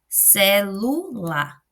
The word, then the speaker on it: celular: Quando nós falamos celular, celular, eu coloco mais intensidade na segunda sílaba, no meio, né?